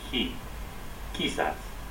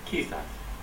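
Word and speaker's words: quizás: so you're supposed to stress this a little key sets key sets for the correct pronunciation for this word meaning perhaps in Spanish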